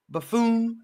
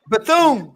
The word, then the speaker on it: Bethune: Buffoon.